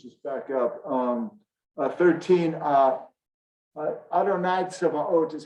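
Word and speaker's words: צבאות: Adonai Tzevaot is how this one is usually pronounced, the God of hosts.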